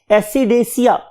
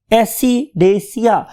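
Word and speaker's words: Ascidiacea: एसिडेसिया, एसिडेसिया। और अगर आप इसको देखें तो यहां पे भी थैली और उसके बाद एशिया, तो तीन ग्रुप्स हो गए। नंबर वन लार्वेसिया, नंबर टू एसिडेसिया, और नंबर थ्री थैलेसिया।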